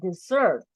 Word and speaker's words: dessert: A second, in this case, is a dessert. It's not desert, right? Desert is Sahara Desert. In this case, it's a dessert.